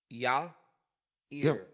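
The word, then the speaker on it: Yair: did tell he said think about yah yah ear Yer but it must come out your your rear yeah you do I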